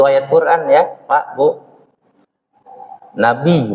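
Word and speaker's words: نبي: Nabi bacanya nun ba ya bacanya Nabi. Karena ada sidah Nabi. Jangan pakai H ya.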